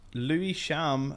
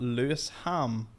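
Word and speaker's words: Lewisham: end there and then it's pronounced Lou sham and not LS ham really there you go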